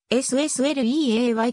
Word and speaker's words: SSLeay: たされは一字ずつアルファベットの名のままで ssl eay と発音することが推奨されているこの名前は最初